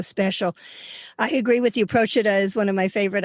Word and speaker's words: Procida: Ischia and Procida, I think you pronounce it Procida.